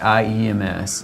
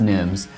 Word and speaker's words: Nghiems: It's the Nghiems, Nghiems. Okay. It's pronounced Nghiems.